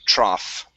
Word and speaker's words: trough: And it's called a trough. Trough. Okay. Yeah. In this in this instance, the um the o u gh uh equals an a and an f.